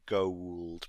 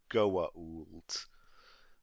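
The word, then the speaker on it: Goa'uld: u it's pronounced okay i think i have been saying gold but it's goat okay in that moment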